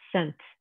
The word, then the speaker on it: scent: You're just making the sound, like in the word scene, like a scene in a movie, or scent, like the smell of something, is it scent?